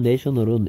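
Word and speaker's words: national: 관련 있는 국가적인 네이션 내셔널은 a 발음의 변화도 주목하셔야 돼요이 명사일 때는 a a 네이션 됩니다 근데 국가적인이란 뜻일 때 a 발음이 내셔널이 됩니다 네이션 내셔널 그다음 옵션 선택 옵셔널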